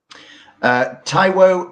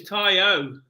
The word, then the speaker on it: Taiwo: I'd say it was Tayo. That's just the way they pronounce Tayo Awoniyi.